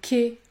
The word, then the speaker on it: quai: Lorsque les lettres AI se situent en fin de mot, vous devez prononcer le son et, comme dans j'ai, le quai, je marchais, je marchais.